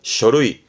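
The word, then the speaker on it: 書類: 발음은 쇼루이.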